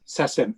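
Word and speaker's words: SACEM: society of authors composers and music publishers yes sasem s-a-c-n yes member of the the society of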